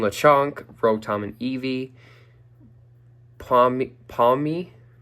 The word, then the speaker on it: Pawmi: Pawmi Pawmi That's how you say it. Sounds like Pawmny.